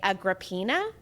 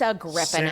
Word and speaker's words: Agrippina: I was a kid, I would say Agrippina, but it's Agrippina. Sounds Agrippina so much is more nice. appealing. I specifically asked ChatGPT to spell this phonetically for me, and it is Agrippina.